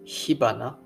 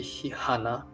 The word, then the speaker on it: 火花: It should be hihana, because the first one is hanabi. But actually, if it's hana, it would sound like hihana. And I'm not really sure about Japanese learners, but for native Japanese people, hihana sounds really wrong.